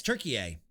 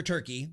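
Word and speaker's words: Türkiye: we go yes it's turkey a it's no longer turkey it's now pronounced turkey a they don't pronounce it turkey anymore it's turkey a they've changed their name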